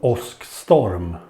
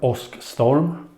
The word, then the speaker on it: Åskstorm: Okay, so in this video I will go through IKEA's fast charger, multi-fast charger called Åskstorm.